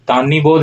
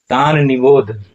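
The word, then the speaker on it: तान्निबोध: अब इसका उच्चारण देखिए यहां पर इसका उच्चारण होगा तान और तब निबोध तानबोध नहीं होगा अक्सर लोग इसका उच्चारण करते हैं तानी बोध लेकिन तानिबोध उच्चारण नहीं होगा।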